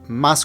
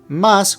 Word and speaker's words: más: With or without an accent, the pronunciation is exactly the same. However, in Spanish, accents are sometimes used to change the meaning of a word. In this case, más with an accent means more. If you remove the accent, the pronunciation remains exactly the same.